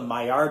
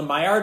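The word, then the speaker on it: Maillard: that it's it doesn't it's not pronounced like it's spelled I think it's a French word so the my our reaction is a is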